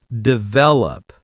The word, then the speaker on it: develop: Develop. Stress the middle. Develop.